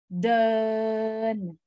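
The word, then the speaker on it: เดิน: write it like this it sounds more like dern like modern but without the r sound okay so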